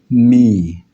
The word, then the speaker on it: mi: Then we move to the third note, which is mi. Me is pronounced as an I, the first person, I.